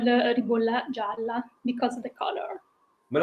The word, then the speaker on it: Ribolla Gialla: How do you say it? Ribolla Gala, Gala, Gialla. Gialla, Ribolla Gialla.